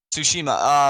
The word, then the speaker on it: Tsushima: don't think was it - how do you pronounce that tis Shima Tsushima Jima ok thank you Tsushima um what was this thing anyway um yeah